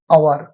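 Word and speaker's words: hour: जैसे एन आवर, देखिए H consonant है लेकिन उच्चारण आवर, एच का उच्चारण नहीं होता है, आवर, एच साइलेंट है।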